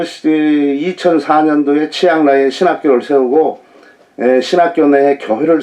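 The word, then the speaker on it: เชียงราย: 치앙라이는 치앙라이. 이렇게 반듯이 그냥 쭉 뻗어요.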